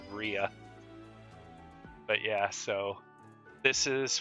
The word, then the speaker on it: Rhea: item known as a portrait of Raya or RIA my Sissel sister will get on my actually yeah she will kind of get on my case if I pronounced it Raya and stub RIA but yeah so this